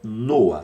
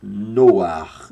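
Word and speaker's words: נח: no antigo testamento hebraico o nome deste homem que nós conhecemos no Brasil como Noé é noa tá aí a palavra Hebraica para que você possa entender noa e a quem pronuncie noar dando um tom cultural bem de leve no final noar Ok noar ou noa que é muito comum também Lembrando que o eu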